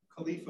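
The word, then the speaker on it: Califa: And then director of, how do you say this, Skip Khalifa? Is that how you say it? Yeah. Khalifa, which is a consortium of California law, large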